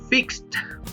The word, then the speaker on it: fixed: También el verbo fix, que termina con x, se pronunciaría como si tuviera una t al final, fixed. Fix es arreglar.